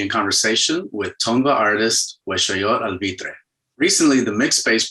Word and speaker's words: Weshoyot: It's Weshoyot, right? Weshoyot. No T at the end? No T, no.